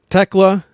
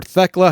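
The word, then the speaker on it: Thekla: The third one, Techla or Teela, however it's pronounced. Um, I hear both. I think it is Techla.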